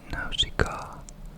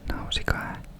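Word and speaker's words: Nausicaä: I don't know if it's pronounced more Nausicaa in English, but the last letter in that word is a, at least in Finnish, so I say it's Nausicaa of the Valley of the Wind.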